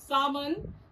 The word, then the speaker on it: salmon: Salmon is pronounced as salmon, where L will remain silent.